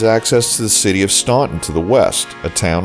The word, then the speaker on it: Staunton: Locals say that the people here began saying Staunton as we do today only after their throats were so full of coal dust that they could no longer say Stanton.